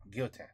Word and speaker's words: Guillotin: Mon compte Instagram, c'est Greg Guillotin. Il y a de... Greg Guillotin. You don't pronounce the L's at all, huh? Mon compte Instagram, c'est Greg Guillotin. Il y a... Guillotin.